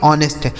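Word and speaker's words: honest: यहां जो एच लिखा है दोस्तों, यह साइलेंट है। लिखा भले ही गया है, लेकिन इसको पढ़ा नहीं जाएगा। इसे पढ़ेंगे ऑनेस्ट। ऑनेस्ट नहीं पढ़ेंगे।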